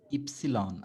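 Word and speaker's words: Ypsilon: আপনি একটু বলবেন ইক্স ইপসিলন। আপনার ইপসিলনের উচ্চারণটা হয়নি। আপনি একটু আমার সাথে করবেন।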